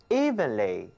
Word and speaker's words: even: 即使到了现在呢，我们依然对学习英语单词不是很入门。所以呢，大家就更应该坚持收看我们的节目，学会顺着词根记单词的方法。我们在 even 后面加一个副词后缀 ly，就构成了副词 evenly。这个词的意思是平坦的、均匀的。比如，我们把眼前这份钱平分成两份，就是指把钱要均匀的分开。Share the money evenly. Share the money evenly. 好了。看一看 VEN 这三个字母，还有一个词也含有这三个字母，那就是 oven 炉子、烤箱。 Even and oven 两者呢其实并不容易混淆，因为请大家注意啊，他们俩的第一个字母读音差别非常的大。